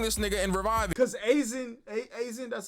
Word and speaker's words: Aizen: Because Aizen, that's how you pronounce it, is in Bleach too.